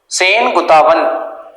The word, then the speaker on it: Senguttuvan: Next लिखो, सेनगुप्ता, sorry सेनगुप्ता नहीं है, सेनगुतावन, सेनगुतुवन। मैं स्पेलिंग लिखवा देता हूँ, ये थोड़े साउथ इंडियन